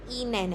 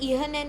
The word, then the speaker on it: Ihnen: वी गेट एस तो same ही है और ये इनेन है। ठीक है? हस बिल्कुल लाइट है। इहन नहीं है।